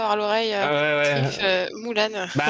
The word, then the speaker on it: Mulan: Mulan. Bah, parce que c'est un personnage chinois et ça, il prononce Moulane en fait.